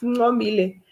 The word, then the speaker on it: Ngomile: Okay, there's a comment from the chat room, and it's the way you pronounce the name is Ngomile.